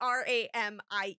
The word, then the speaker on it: ramie: And I know someone's going to say in the comments that I am pronouncing that wrong because I've never heard anyone else pronounce it. I know it's wrong, but it's Ramie if you are wondering.